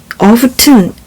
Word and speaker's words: often: T 소리가 안 납니다. T를 지워주고 싶네요. 같이 지우자. T가 소리가 안 나요. often이에요. 그렇다고 해서 열다 open이랑 같이 발음하시면 안 되고 F 발음이니까 often이요.